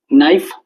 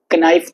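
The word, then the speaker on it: knife: नाइफ नाइफ को हम कैसे बोलते हैं? के एन आई एफ ई तो लिखते हैं के एन आई एफ ई लेकिन के साइलेंट होता है। केनाइफ तो नहीं बोलते।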